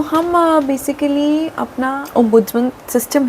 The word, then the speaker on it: ombudsman: तो हम बेसिकली अपना ओमबुजमन सिस्टम है। पहले तो हम बात करते हैं कि देखो अह ओम बुड्स मैन ओमबुजमन सॉरी स्पेलिंग अच्छे से याद कर लो पहले तो